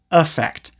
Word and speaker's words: affect: So yeah, the noun is spelled with an E, and it's usually pronounced effect, effect, or affect. And the verb is spelled with an A and is usually pronounced affect.